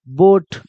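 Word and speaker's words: boat: अब कहिएगा सर कैसे, तो देखो बी को क्या पढ़िएगा, ब। अब देखो ओ के बाद ए आ गया तो ओ के बाद ए आया तो बो हो जाएगा, और टी को क्या पढ़िएगा, ट हो जाएगा, तो क्या बन जाएगा, बोट।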